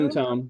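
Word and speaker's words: Mentone: Menone. Is that the name of the show? Yeah, Menone.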